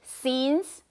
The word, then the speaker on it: scenes: ，OK。那个 scene 那个场景，一场一场那个场景 scenes，那这里是加 s 的，因为你一生当中会发生很多很多的场景，快闪过他这一生所发生过的每一个场景，OK，flashed scenes from his life，OK，接下来呢，他说 for each scene，每一幕当中 he